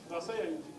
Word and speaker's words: Rasaya: Something about रसाया, how do you pronounce it?